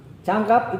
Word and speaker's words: 장갑: Jadi kita masuk pelafalan orang Korea dulu. 장갑. Ya, Jangkap itu adalah sarung tangan.